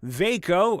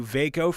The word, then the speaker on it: Vako: freaking need them nowadays uh vako i would have said vodka because it's v-a-k-o thank you veyko for sending me this